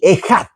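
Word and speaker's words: אֶחָד: la palabra uno viene usado con la palabra eyad o ejad. Bueno, yo no soy hebreo de madre lengua hebrea, no, pero es así, ejad. Ok, se pronuncia de ese modo, ok, y entonces es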